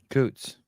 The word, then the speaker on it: Coots: Coots, Daniel's father, and he's told us that Coots is pronounced like boots, only with a K. Coots.